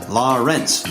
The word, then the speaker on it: Lawrence: I once heard him describe the pronunciation of his name as Lawrence, like rinse your dishes.